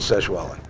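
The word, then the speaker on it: Sexwale: on the show with this guy named Tokyo seshwale which is spelled sex whale that's how you put but that you pronounce it seshwali so uh Tokyo said kinky I want to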